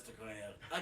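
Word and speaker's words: Nakia: That's Nicoya. It's Nicoya? Yeah. It's really close to Okoye. Right? Which is Denai Guerrero's character. I'm pretty positive it's Nicoya.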